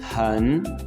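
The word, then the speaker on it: 很: सो 11वां लफ्ज है आपके सामने लिखा हुआ हन हन। अच्छा ये जो ह है बेसिकली ये थोड़ा सा ख का साउंड भी आपको फील होता है जब आप किसी चाइनीस नेटिव को सुनेंगे।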